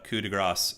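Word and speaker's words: coup de grâce: Coup de grace is pronounced coup de grace.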